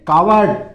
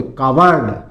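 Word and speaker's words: coward: फिर कावर्ड। बहादुर होते हैं। कायर भी होते हैं। कावर्ड कायर। सी ओ डब्ल्यू ए आर डी। इसको क्या बोलोगे? कावर्ड। कवर्ड नहीं बोलोगे। कॉवर्ड। कावर्ड बोलोगे।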